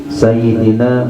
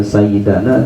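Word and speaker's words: سيدنا: kepada saya mengucapkannya hati sayyidina muhammad nya jadi senang hati ini membacanya Bukan sayyidana tapi Sayyidina ya ini katanya sebelah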